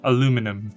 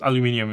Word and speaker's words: aluminium: decided to go with an aluminium body, or aluminum if you're in the US. Aluminium is the correct way to say it, and I will die on that hill.